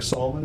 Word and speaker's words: Salmon: social medes uh and that Solomon is s-a-l-m-o-n spelled like salmon pronounced like Solomon because we're classy that's what